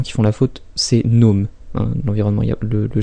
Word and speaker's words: GNOME: Donc c'est un environnement qui physiquement ressemble beaucoup donc à l'environnement GNOME 2, donc évidemment, enfin GNOME 2, pardon, excusez-moi, le G se prononce pas, hein, il y a